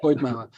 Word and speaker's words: Coed Mawr: I think I've got the pronunciation right, because obviously it's in Welsh, so it's a slightly Coed Mawr, Coed Mawr.